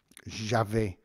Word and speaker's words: j'avais: Although a lot of times in French you'd use the imperfect tense, j'avais, which is spelled A-V-A-I-S, j'avais, but it might come up, j'ai eu, and the future stem is a little bit awkward as well.